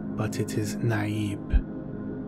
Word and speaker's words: Naib: is a leader among the Fremen some may pronounce it name but it is naive like these were a group of famine a